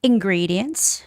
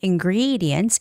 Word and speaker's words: ingredients: Um, ingredients. The stress goes on. E. Ingredients. Ingredients. Whatever.